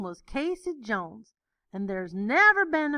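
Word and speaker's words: Cayce: Jones he was from Casey Kentucky pronounced the same as Casey c a y so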